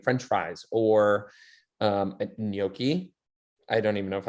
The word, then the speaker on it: gnocchi: into something like french fries or um a gnocchi i don't even know if i'm pronouncing that right there's a lot of silent